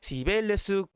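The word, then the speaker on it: Cibeles: 그죠?이 이 시청 바로 앞에 있는이이 분수가 바로 시벨레스 분수입니다. 사실이 마드리드 시청이 과거에는이 시벨레스 궁전이었어요. 제가 발음을 좀 바꿔 볼게요. 시벨레스는 어 그리스로마시나의 대지에 여신인 키벨레 키벨레를 스페인어식으로 옮긴 거예요.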